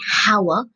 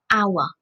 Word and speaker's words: hour: H with a H the H is a continent but when we pronounce this word we don't say Hauer we say our so when we start